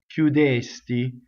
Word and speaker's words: chiudesti: So if you notice, I've written a double K sound for cchiudesti, cchiudesti. Okay?